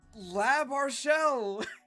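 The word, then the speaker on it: L'Arachel: is centered it's labell people were wondering how to pronounce her name it's lab arell is this our new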